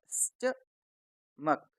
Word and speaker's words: stomach: दोस्तों इस शब्द में हमारे पास O और H साइलेंट है, तो हम इसको क्या पढ़ते हैं? स्टमक, स्टमक, स्टमक, STAGE, stage,